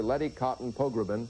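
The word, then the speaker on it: Letty Cottin Pogrebin: co-founder of Miz Magazine, Getting Over Getting Older, Lety Cotton Pogbin. I got it right, didn't I? Perfect. Well, you have too many syllables, by the way.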